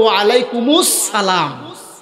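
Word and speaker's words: وعليكم السلام: আপনি সঙ্গে সঙ্গে বলবেন ওয়ালাইকুমুস আসল উচ্চারণ হলো ওয়ালাইকুমুস সালাম এটা বলবেন ওটা ওয়াজিব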